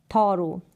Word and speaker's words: thorough: Pronunciation है वो है थॉरो। क्या है? थॉरो। यहाँ पर प्रोनाउंसिएशन है थॉरो। और यहाँ पर THOROUGH, थॉरो। यहाँ पर औ करके प्रोनाउंस कर रहे हैं OUGH को, औ करके इसका प्रोनाउंसिएशन हो रहा है, औ करके।